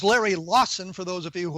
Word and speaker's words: Larry Lawson: My guest, Larry Lawson, was so annoyed that I mispronounced his name, he hung up on me. No, it is Larry Lawson, for those of you who are keeping score at home.